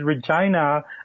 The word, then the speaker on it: Regina: Actually, the pronunciation is Regina, but most people who aren't from Regina avoid that because it sounds a little bit too much like vagina.